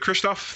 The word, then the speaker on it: Krzysztof: Good pronunciation. Much better than mine. And also, Krzysztof, you said? Yes, Krzysztof.